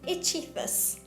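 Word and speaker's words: ichthys: you why the greek word for fish is ichithus and it's spelt i-x-o-y-e and what the christians did is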